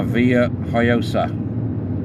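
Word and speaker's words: Villajoyosa: off here and uh go down to La Villa hayosa so you pronounce it and the first Beach we come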